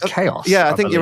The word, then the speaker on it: XAOC: I think it's pronounced Chaos.